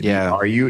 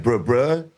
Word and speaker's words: Bru: Yeah, so we just did BRU. That's why we did BRU. And then Brothers was BRU. And it looks like bruh, but it's Bru Brothers.